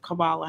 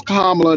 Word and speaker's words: Kamala: The lady name is Kamala, not Kamala.